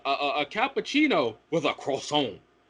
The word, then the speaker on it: croissant: a cappuccino with a croissant it's croissant you're not french don't turn into the fight the fleet in french when you want a croissant it's croissant not crohn you didn't turn french just